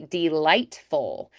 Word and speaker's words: delightful: So here we're going to think more duh, Delightful, because that's our unstressed syllable. Remember those neutral schwas? Delightful. And lightful, more tall, and then full. I'm going to think more dropping back warmer on that L.